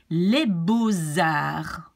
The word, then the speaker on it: les beaux-arts: And so we pronounce it like an S linked to the A of arts.